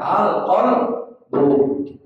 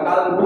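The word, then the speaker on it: القلب: itu qolu naam mereka berkata iya naam qala fatu almuhsini berkat kadalikalqbu kadalika itu artinya demikian pula dengan alqbu kita bacanya bukan kalbu ya kalau kalbu itu anjing kita kan bilang bahasa kalbu Bahasa anjing itu namanya arunya bahasabu kalalikalqbu.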